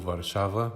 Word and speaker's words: Warszawa: in Poland as FCO Warszawa, which is the Polish pronunciation of Warsaw.